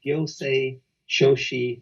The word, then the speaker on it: gyosei shoshi: advisor and a qualified gyosei shoshi lawyer. Did I get that pronunciation right, Yoko? Yes. Right? Yeah, that was perfect.